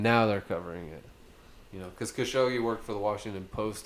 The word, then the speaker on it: Khashoggi: More I mean, so now, like since that guy, I don't know how to pronounce his name. Khashoggi.